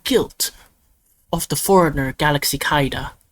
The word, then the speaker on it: Kaida: This case has already gone beyond the innocence or guilt of the foreigner Galaxy Kaida, which rhymes with Kaiba.